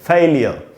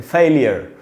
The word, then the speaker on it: failure: ये इसका British English का उच्चारण है, ब्रिटिश इंग्लिश का प्रोनाउंसिएशन है, फेलियर। अगर इसको अमेरिकन में पढ़ना होता तो हम पढ़ते हैं फेलियर।